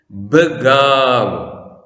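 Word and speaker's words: ܒܓܘ: അന്ത്യാക്ഷരം വാവ്. അതിന്റെ തൊട്ടുമുമ്പുള്ള അക്ഷരം ഗോമാൽ. അന്ത്യാക്ഷരത്തിന് സ്വരമില്ല. അപ്പോൾ തൊട്ടുമുമ്പിലെ അക്ഷരത്തിന്റെ സ്വരം ദീർഘമായി ഉച്ചരിക്കണം. ആദ്യ അക്ഷരം ബേത്ത്. ബേത്തിന് സ്വരമില്ല. അപ്പോൾ അത് ബ. രണ്ടാമത്തേത് അന്ത്യാക്ഷരത്തിന് സ്വരമില്ലാത്തത് കൊണ്ട് തൊട്ടുമുമ്പുള്ള അക്ഷരത്തിന്റെ സ്വരം ദീർഘമായി ബഗാവ്.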